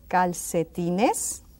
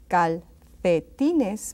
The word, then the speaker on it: calcetines: And we'll say, los calcetines. Remember that word? You may hear also, as I said, los calcetines, with a TH sound in the C. That's perfectly all right.